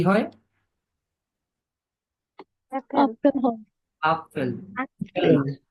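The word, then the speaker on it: Apfel: আসছে আ তে কি হয় অ্যাপেল আপেল হয় আপেল আপেল অ্যাপেল না অ্যাপেল না অ্যাপেল না আপেল আপেল আপেল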